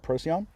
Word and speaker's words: Procyon: There's some discrepancy about how you pronounce that, but most places online call it Procyon.